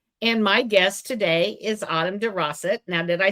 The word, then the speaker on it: Autumn DeRossett: And my guest today is Autumn DeRossett.